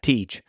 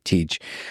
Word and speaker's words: Tej: Tej. Okay, Tej. It's TJ would be his name, but we call him Tej.